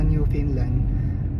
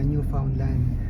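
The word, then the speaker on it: Newfoundland: syempre paglipat nila sa new Finland yung new new Finland pala yung pronunciation doon mga guys may nag-correct sa akin kasi nasanay ako na new foundland pero hindi daw yun yung bigas So yun nga pagpunta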